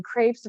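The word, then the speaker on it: crêpes: many other countries or you can call them crepes rhymes with drapes if you prefer okay maybe they were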